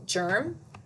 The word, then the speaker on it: germ: It's because there's an E that follows that G. So if there's an E, I, or Y after a G, that makes it say a soft G sound. If it was an A, an O, or a U that came after the G, it would make a G, a hard G sound.